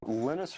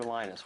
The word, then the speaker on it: Linus: And that's when Linus Torvalds came along. Linus or Linus? What's your preferred pronunciation? When I speak Swedish, it's Linus. When I speak Finnish, it's Linus. When I speak English, it's Linus.